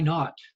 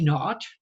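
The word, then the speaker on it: naught: just call that y not okay so at Time Zero in physics we call that y y not or Y zero you pronounce out y n a u GT not meaning nothing okay um so Y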